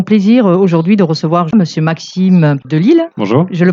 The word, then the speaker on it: Maxime De Lisle: Bonjour du Festival de journalisme à Couture et nous avons plaisir aujourd'hui de recevoir Monsieur Maxime Delisle. Bonjour. Je le prononce bien ?